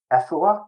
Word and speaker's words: Afua: Also, I'd say that our editor, Afua, is that how you say it? Yeah, Alan Afua.